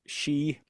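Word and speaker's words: Sidhe: So that word CDA is actually pronounced she in in Gaelic.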